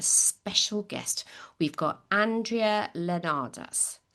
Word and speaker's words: Leonarz: We've got Andrea Leonarz. Pronounce it for me again. Leonarz. Andrea Leonarz.